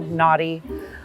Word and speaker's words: Nauti: So it's a play on being nautical. So it's spelled Nauti. So nautical, naughty, and just kind of giving